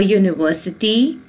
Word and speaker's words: university: a consonant sound her a university it begins with a consonant sound you a week it begins